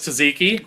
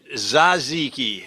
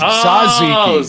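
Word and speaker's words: tzatziki: I thought it was Kaziki. No, Monk. Didn't you say it's just It's Zaziki. See, that's Zaziki. The T is the T is silent.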